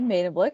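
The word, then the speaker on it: Medemblik: my name is made a blick and ashley got spot on my easier way to remember the way to pronounce it is like made in china but it's made in blick i'm a wonderful dutch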